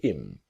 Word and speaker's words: him: So our focus is on him to im. The idea again about her to is native speakers don't always pronounce the letter H when we speak quickly.